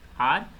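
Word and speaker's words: hour: जैसे कि यहाँ पे पहला वर्ड है आर, इसमें H साइलेंट है।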